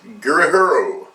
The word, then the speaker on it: Gurihiru: It's the writer is Mariko Tamaki and the artist is going to get their name mispronounced. Gurihiru.